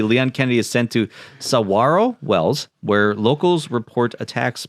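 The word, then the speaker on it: saguaro: I call them Sagarro cacti, but when you go there, they actually pronounce Sawarro. Sawarro. So either way, I'm wrong. Oh, the G is silent.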